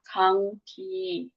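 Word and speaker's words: 감기: Nanti dibacanya kangki.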